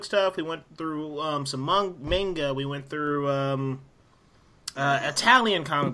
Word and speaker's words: manga: we went through some manga, we went through Italian comic books. We just went through a lot of different things that were adapted this year. Pronounced manga, not manga, you uncultured swine.